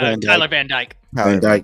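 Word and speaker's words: Van Dyke: is it van Vanda from Miami yeah Tyler van djk that's right yeah I don't think van dijk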